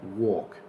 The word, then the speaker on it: walk: in Spanish is table number three walk the same thing the a becomes an O and you don't pronounce the L so you say walk